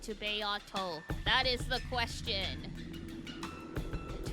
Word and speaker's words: Beato: Not Beto. Beato. I see. Okay. Beato? Beato will do.